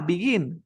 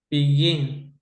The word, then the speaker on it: begin: Ah, begin. Termina en Begin. consonante, vocal, consonante. Es begin or begin. Begin. La fuerza está al final, ¿verdad?